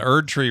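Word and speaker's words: Erdtree: Erd tree rhymes with turd tree, so maybe they know what they're doing.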